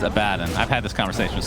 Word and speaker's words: Abaddon: in dota 1 days i believe he was called abaddon no it's the opposite it was the opposite yeah okay i got i got the correct pronunciation is a bad and i've had this conversation